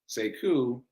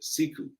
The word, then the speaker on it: Sekou: He pronounces it Sekou, but it's spelled the same. So when I came along, I said Sekou, people asked me how to spell it.